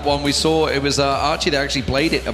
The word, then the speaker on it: Aki: And it's Archie, by the way. It says Aki, but it's pronounced Archie. I've been told, I've been informed by the Taiwanese community, this is the way to pronounce it.